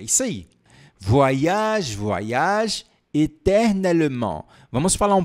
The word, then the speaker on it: voyage: Voyage, voyage. Mais uma vez, como é que a gente pronuncia? Voyage. Parece que você dá uma volta no mundo.